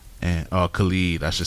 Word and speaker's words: Khalid: American Teen by Khalid. And Khalid, I should say. His name is spelled like Khalid though, so I be saying Khalid.